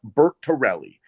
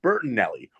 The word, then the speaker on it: Bertorelli: It's pronounced Bert Terelli, not Burtonelli. Where the hell is there an N in my name?